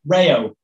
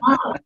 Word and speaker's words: Rao: I refuse to say Rayo. Can't do it. It's touche. It's Rao. It's like in Europe, it's Rao.